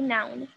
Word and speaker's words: noun: Então, o now vai ser mais seco, tá? É uma coisa só. Now, now, now, now. O outro que é substantivo, eu vou pronunciar assim. Noun, noun. Ele tem uma continuação, ó. Now, noun. Noun, n, n, e termina com N.